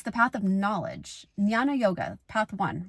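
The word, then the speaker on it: Jnana: this are is the path of Nana yoga so that's knowledge that's spelled as j n n a Nana yoga The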